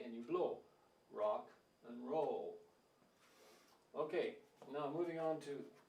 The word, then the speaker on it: rock and roll: your favorite music someone might say I like Hawk and hole okay so what's the problem they're pronouncing or like H it's written like this